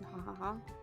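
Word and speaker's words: ㅎㅎㅎ: There's also HHH, which is pronounced as ha ha ha.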